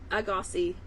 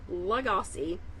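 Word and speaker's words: Lagasse: purchased an emerald legosi I have always pronounced his name emerald agosi I looked it up today it's Emerald laosi apologies Emerald not that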